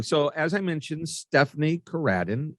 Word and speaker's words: Coradin: So as I mentioned, Stephanie Coradin, and I emphasize the ra and Radin.